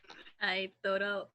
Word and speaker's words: Aotearoa: How do you pronounce it again? The name for New Zealand? Aotearoa.